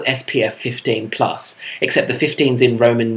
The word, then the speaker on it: plus: it's called spf 15 plus except the 15s in roman numerals and the plus is in french so when it's written down it's actually pronounced plu in case you couldn't